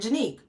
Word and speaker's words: Janique: it's so e it's it's two syllables it's Jan and right janique so for somebody to